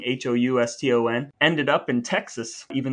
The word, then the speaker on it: Houston: It's spelled Houston, but it's not Houston Street. It's Houston Street. Yeah. It's named after a different family who just pronounced it differently.